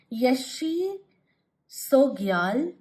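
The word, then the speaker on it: Yeshe Tsogyal: This is pronounced as Yeshi Sogyal, a yogini guardian for humanity and an emanation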